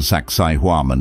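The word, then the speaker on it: Sacsayhuamán: visit the Fortress of saksiwaman for easy pronunciation saksai huaman is pronounced like sexy woman this Fortress sits atop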